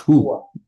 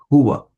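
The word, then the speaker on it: هو: Huwa. Not who. Huwa.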